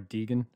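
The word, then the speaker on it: Deighan: g h a and in parts of ireland that would be pronounced deegan or d in so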